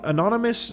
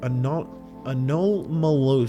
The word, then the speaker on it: anomalous: The anonymous... what is that word? Anomalous.